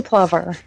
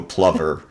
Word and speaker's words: plover: Could you I say plover. Okay. I'm in the PV family. Yeah. Not Clover. You and the the British and the Canadians go plver.